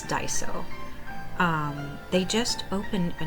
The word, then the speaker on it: Daiso: was saying it really wrong before but it's Daiso um they just opened a new store literally